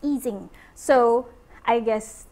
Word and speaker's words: Ising: a generalization of easing model if you or ising model uh initially I called it ising model and then when I went to Imperial Henrik told me it's actually pronounced eing so I guess eing is the correct way to pronounce the model